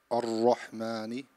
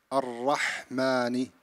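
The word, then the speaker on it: الرَّحْمَٰنِ: Don't close your lips in a ra. Don't say Ar-Rahmani. So you have to say Ar-Rahmani.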